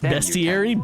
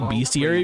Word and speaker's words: bestiary: in this cont best bestiary beastiary best best bestiary I believe you want to say beastiary because it's usually about beast but I believe it's pronounced best moners and a tri